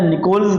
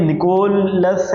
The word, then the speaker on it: Nicholls: वालेकुम Andre and hovered निकोल्स जो है इनका मॉडल है ये इस मॉडल को ना दो तीन नाम दिए गए हैं या निकोल्स निकोल्स मॉडल भी कहा गया नहीं निकोलस है निकोल्स है ये थोड़ा सा मैंने